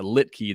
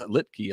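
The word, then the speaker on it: Luetge: picking me up the slack there with a lit key that's not what I went for I'm searching for the pronunciation guide over here uh so I appreciate you picking that up but Lucas Lefty Lucas lipkey a lot of elves going on there but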